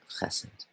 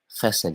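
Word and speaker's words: חסד: Chesed. Chesed, you guys. I don't know if any of you guys only got into Kabbalah from like pagan sort of hermeneutic stuff. It's pronounced chesed, not chesed.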